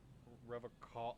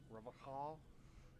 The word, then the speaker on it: Revachol: Revocall. You said that shit way wrong. Revachol.